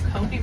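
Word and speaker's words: kopje: Those are what they call Kopi rocks. Kopi is spelled K O P J E, just like how you sounded it out in your head.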